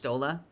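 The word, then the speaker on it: Y'shtola: Ah, Yshtola. Is that how you say it? Yshtola? Yshtola. Has a very Russian feel to it. Yshtola. Petrovius. No pronunciation of the Y, it's just Shtola.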